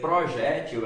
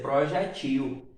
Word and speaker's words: projetil: Ao invés de ser projétil, ela passa a ser projetil, tornando-se uma palavra oxítona, tá?